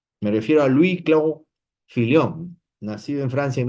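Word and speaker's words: Fillion: Vamos a a leer algo de Luis Clan Filón, perdón, lo he pronunciado mal Luis Clo Filión, ¿no?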